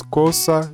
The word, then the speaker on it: cosa: Mas não, ele tem sempre som de S. Sal, sopa, sushi. Como nas palavras cosa e esposa, né? Veja que o S ele tem som de S. Cosa, esposa.